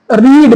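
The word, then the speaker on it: read: I have रीड माने होता है पढ़ना, इसका जो सेकंड और थर्ड फॉर्म स्पेलिंग सेम रहती है, उसको पढ़ा अलग जाता है। रीड, रेड, रेड।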